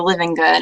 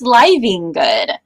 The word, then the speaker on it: Livengood: Yeah, no, that's exactly, like, you're living good. I'm like, actually, it's pronounced Livengood.